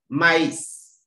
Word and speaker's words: maïs: The part of the words before the trema itself and the trema are pronounced separately. Example, maize, maize, sweet corns. In the pronunciation, I have to separate the two words. If the trema is missing, the word becomes me.